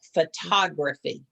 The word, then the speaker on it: photography: photography yes photography accent the accent goes on the second syllable photography photography okay yes number 11.